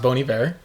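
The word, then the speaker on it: Bon Iver: uh first of all it's pronounced bony bear um so this is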